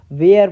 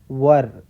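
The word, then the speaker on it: were: ठीक है, ये वाला वेयर सेट होता है ना, तो वो लोग इसको वेयर पढ़ते हैं, पर ये वेयर नहीं है, ये है वर।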